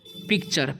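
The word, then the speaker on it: picture: है य वा है इसलिए हम च का उच्चारण कर रहे टी का ठीक है पिक्टर नहीं पढ़ना है यहां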